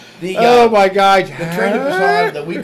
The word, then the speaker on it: Busan: Okay, it spells B-U-S-A-N. Now English already sucks because there's so many rule variations. Exception to the rule. Okay, it's B-U-S-A-N. So I'm going to pronounce it Busan.